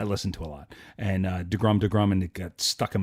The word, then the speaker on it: deGrom: listening to your show, because you don't say it right. It's DeGrom. Everyone else calls him DeGrom, but you guys call him DeGrum for some reason.